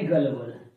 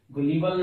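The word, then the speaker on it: gullible: उसे कहा जाता है गलबल। प्रोनाउंसिएशन पे ध्यान देंगे, गुलीबल नहीं है, गलबल, भोला भाला, भोला जिसे आसानी से मूर्ख बनाया जा सकता है।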